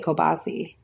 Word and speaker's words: kielbasa: No. It's kielbasa. It's kielbasa. Kielbasa. That's not how it's said. But we say, like I say, kielbasi. Kielbasi. No, I know, but I think that's the proper way to say it.